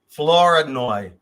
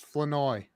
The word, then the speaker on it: Flournoy: Flournoy or Flournoy. You're very close. It's Flanoy. Flanoy. Flanoy. Flanoy. I'm like, take the R out, dude.